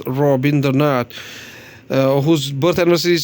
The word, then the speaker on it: Rabindranath: At last, there's a famous quotation by Rabindranath Tagore, who was a Bengali pronounced as Rabindranath, whose birth anniversary is